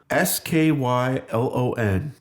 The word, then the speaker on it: Skylon: do you spell it sk y L o n Oh like a Skylon I thought you meant sky lon l aw n note oh no I was like oh it's like grass in the sky no